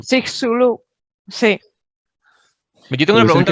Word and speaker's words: Chicxulub: Y dicen que esto lo pronuncian como Chicxulub. Chicxulub, sí.